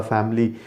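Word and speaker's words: family: Next word जो है ये, अब हम फैमिली जो है अक्सर हम इस्तेमाल करते हैं, मेंबर्स ऑफ द फैमिली।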